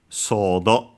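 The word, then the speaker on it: ソード: First we have of course the pronunciation the Japanese pronunciation of sword. Sordo quite easy should be accented on the first one.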